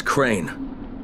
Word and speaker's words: Crane: No, my name's Crane. Crane? Crane rhymes with train and brain and sane and grain and rain and plane and the other kind of plane and...